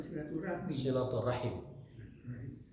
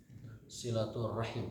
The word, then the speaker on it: silaturahim: Yang benar itu silaturahim atau silaturahmi? Silaturahim itu yang benar.